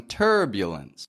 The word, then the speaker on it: turbulence: in we've got some turbulence power that vowel put the Y Glide in there and everyone will remain